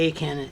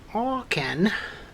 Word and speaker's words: A'Can: a little nerdy um this is the not the a can it's an all can this is apparently how you pronounce it but anyway um i'm